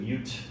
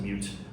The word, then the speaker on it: mut: So today my talk's going to be about misunderstood mute. I pronounce it mute. I don't know if it's. I've heard some people say mut. I pronounce it mute, and it doesn't mean mute the audio.